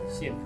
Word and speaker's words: Sean: It's usually you would be right, but my name's pronounced Scene actually. Scene. Yeah.